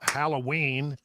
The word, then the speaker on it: Halloween: or Halloween Halloween H Halloween I I I don't know which which is it it's it's emphasis on the last salable right yeah yeah yeah